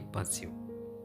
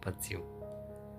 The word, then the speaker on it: pursue: spelling आप देख सकते हैं पी यू आर एस यू ए इसे आप बोलेंगे पर्स्यू पर्स्यू नहीं पसिव ओके बोलिए एक बार मेरे साथ पर्स्यू अब इसका मीनिंग क्या